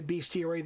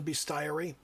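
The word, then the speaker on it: bestiary: I know some people say beastier. That's not how you pronounce the word. It's the beasty.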